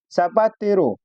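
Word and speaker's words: zapatero: अगला नियम दिया है जेड के बाद अगर ए आता है या ओ आता है या यू आता है तो उसको भी हम लोग स पढ़ते हैं। उच्चारण करते समय जो साउंड निकलता है वह स का होना चाहिए।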